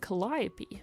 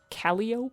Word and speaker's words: Calliope: past was because, admittedly, the spelling is spelled kind of like Calliope. I didn't want readers to read that as Calliope, and then in my head I was like, everyone would call her Cantaloupe.